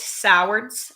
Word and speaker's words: Sowards: Nobody can say our last name. It's Sowards. It's how you say it. But swords, all of that.